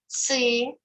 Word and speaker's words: cystis: We pronounce letter C like C because it is before epsilon. Before epsilon, we pronounce C. So, cistis, cistis, cistis.